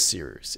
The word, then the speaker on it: Cyrus: My name is Seeroos. It's spelled like Cyrus, pronounced like Seerooster. Just take out the ter.